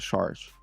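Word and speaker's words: Šarić: No, I I like the Sean Connery sounds of it Saric.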